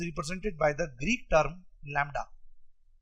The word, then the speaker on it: lambda: Wavelength is represented by the Greek term lambda. Spelling is LAMBDA where B is silent.